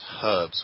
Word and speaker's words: herbs: absolutely although I do insist that everyone pronounces it herbs with an H there's thund this herbs